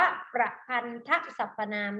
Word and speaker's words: ประพันธสรรพนาม: ประพันธสรรพนาม เป็น เช่น ไร คำ นี้ อ่าน ว่า ประพันธสรรพนาม นะ คะ ใช้ แทน นาม หรือ สรรพนาม ที่